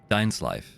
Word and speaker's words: Dainsleif: My name's Dainsleif. I suppose you have some business with me? I'm very sure your name is pronounced Dainsleif. Because it's a Norse name. Not English.